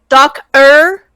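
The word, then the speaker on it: Docer: it out for you doc er like doctor but without the t yes without the t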